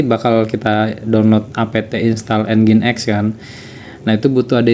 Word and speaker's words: Nginx: Saya akan e coba mengkonfigurasi apa itu namanya eh engine X ya. Kalau tulisannya sih tulisannya ngings gitu ya, tapi dibacanya itu engine X biasanya.